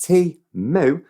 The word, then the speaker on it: Temu: this what is teamwork Timo pronounced T moo is an online Marketplace